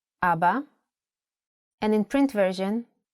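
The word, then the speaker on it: אבא: Also, the word Abba has kamatz under two of its letters. Abba. And in print version, Abba.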